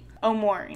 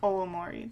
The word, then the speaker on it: Omori: omori oh or wait i looked up the pronunciation omori not olamori that was weird i'm